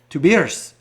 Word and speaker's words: Tobias: Tobias. It's like 2 beers is how you pronounce it in German.